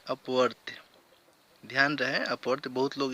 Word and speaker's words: अपवर्त्य: और बहुत लोग हैं जो इसको गलत प्रोनाउंस करते हैं, अपवर्तक बहुत लोग कहते हैं। मल्टीपल का हिंदी अपवर्तक नहीं होता है, अपवर्त्य होता है, ठीक।